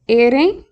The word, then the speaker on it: ere: Okay, ere. I mentioned before the R is kind of like, it's almost like a D sound. It's like air, day.